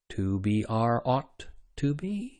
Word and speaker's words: 2BR02B: The zero in the telephone number he pronounced ought. The number was 2BR02B.